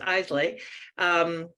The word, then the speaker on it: Islay: Well, an ex of mine used to drink Islay, and it was pronounced Islay, Scotch, and it's spelt the same, but not pronounced the same.